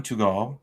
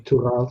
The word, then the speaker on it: Tugal: All right, that was Professor Cihan Tugal. Did I say it right, Jean? Tugal, yep.